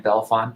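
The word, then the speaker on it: Bellefonte: lipton francis lichten was born in 1889 in belfan pennsylvania and if you're not from pennsylvania yes that is how we pronounce it i don't know why she showed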